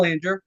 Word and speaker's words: Boulanger: ones to say it right so I'm Banger I'm the president of Branch 44 um I